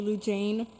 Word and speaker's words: Lou Jane: My name is actually Lou Jane. That's how it's pronounced.